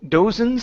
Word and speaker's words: dozens: to the word dozens instead of do dozens it's uh it's a schah here du dozens dozens good one more time